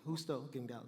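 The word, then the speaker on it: Justo González: Justo Gonzalez. There you go. I was pronouncing it wrong.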